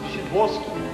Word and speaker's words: Sadowski: Sadowski. Shiboski. A chance. Pronounced Shiboski.